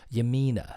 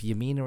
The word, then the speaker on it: Yamina: Yamina is how I'm pronounced. Okay, well, if Yamina is how it's pronounced, then Yamina is how